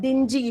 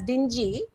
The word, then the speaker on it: dingy: D-I-N-G-H-Y. This is pronounced as dinghy, which means a small boat. And there is one more word, dingy. If we pronounce this as dingy, the spelling becomes D-I-N-G-Y, dingy, which means something which is dull, okay, something which is not up to the mark. That is the meaning of the word dingy.